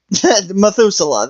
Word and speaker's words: Methuselah: say it again Noah methus methusa okay yeah Methuselah that um so yeah I'm sorry I can never pronounce her name I'm sorry um so yeah